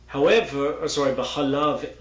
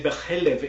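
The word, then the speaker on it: בחלב: B'chalav imo means in the milk of its mother, but you could, because of how it's spelled, understand it to say b'chalev imo, which means in its mother's fat.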